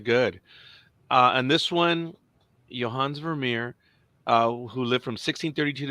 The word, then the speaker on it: Vermeer: I don't know how to pronounce the last name, but it's Johans. Is it Vermeer? Yeah. It's Vermeer.